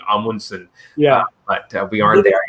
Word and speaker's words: Amundsen: So apparently like the right way to say it is Amundsen.